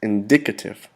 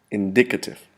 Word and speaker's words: indicative: little bit more it's indicative now we place the accent on the second syllable indicative indicator or indicators used